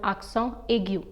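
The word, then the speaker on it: accent aigu: called axon so yes this one is called aksang egyu when this accent appears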